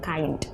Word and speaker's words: KaIND: langsung ngobrol aja ya Jadi ada b-nya di belakang Tapi dibacanya kain aja gitu ya Apakah kain